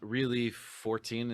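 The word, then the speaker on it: ReliXIV: then moving on to the next album, Really 14 is how you pronounce it.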